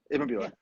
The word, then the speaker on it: Ibbenbüren: So you guys are from Ibbenbüren. Did I say it right? Yeah. Ibbenbüren.